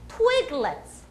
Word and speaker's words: Twiglets: 트위그가 원래 나뭇가지란 뜻이에요. 그러니까 나뭇가지 모양으로 생겼잖아요. 그래서 twig의 강세를 넣으시면 돼요. 그리고 얘는 강세를 안 받으니까 let's 그리고 넘어가는 거예요. 그러니까 let's가 아니에요. let's go 할 때 그 let's 아니고 let's. 그래서 orange twiglets.